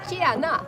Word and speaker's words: tjena: Tjena.